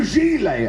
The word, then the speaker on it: gilet: and he his response when I said kill it he was like it's a gilet and I was like I'm sorry I've only ever seen it written down so I said